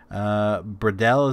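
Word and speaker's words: Bredal: Bradell is how it's pronounced.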